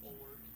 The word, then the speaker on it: Pullert: Pullert, like 2 syllables, Pullert.